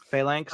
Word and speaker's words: phalanx: Phalanx. It's phalanx. Phalanx. Phalanx. Yeah, like in typical Roman is a phalanx.